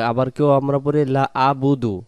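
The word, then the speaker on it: لَا أَعْبُدُ: এই উচ্চারণটা যদি আমরা পড়ি লাবুদু, লাবুদু যদি পড়ি আমরা, তাহলে লাবুদু বলে বা পেশবু দাল পেশ দু, লাম জবর লা, বা পেশবু দাল পেশ দু, লা বুদু।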